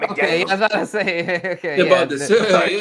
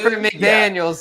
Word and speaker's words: McDaniel: They got Josh McDaniels in his in You mean Mike McDaniel? Yeah, they got McDaniel say McDaniels here. Yeah. No relation. Yeah. Well, it's spelled different. McDaniel. Josh is with an S and Mike is with no S. Just McDaniel. It's McDaniel. Yeah.